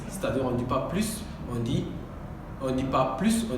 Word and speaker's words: plus: J'en veux plus. Chacun a prononcé la phrase de sa manière, mais ça dépend. Il y a trois manières de prononcer l'adverbe plus. On peut prononcer plus, plus ou plus.